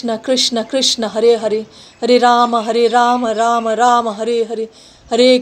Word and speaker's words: Rama: So if you can say Krishna, you pay attention and don't say Ram. You can say, but don't say. Just say Rama.